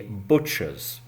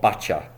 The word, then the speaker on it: butcher: That shop is called a BUTCHER'S , a butcher's. The man who works in that shop is called a butcher. So the pronunciation is definitely not BU-TTCHA. OK , it's butcher.